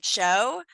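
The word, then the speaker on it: Tcho: misspelling there's a chocolate company named Cho but it's spelled TCH H that's a weird spelling of Cho right like the silent te very strange I don't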